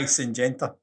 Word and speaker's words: Syngenta: But Syngenta. That's how you pronounce it.